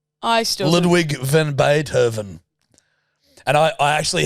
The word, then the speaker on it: Ludwig: Yes, because I was trying to get the pronunciation of Ludwig. It's Ludwig. Ludwig.